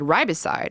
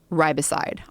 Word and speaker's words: riboside: But nicotinamide riboside, which gets converted into that, which eventually makes its way to NAD, is a supplement.